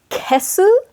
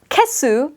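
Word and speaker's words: 消す: So again, the kanji are the same, but they're pronounced differently. And then you've got like a hiragana su after the kesu versus an eru hiragana after kieru.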